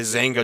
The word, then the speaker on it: Xanga: You had a Zanga journal, spelled with an X, XANGA.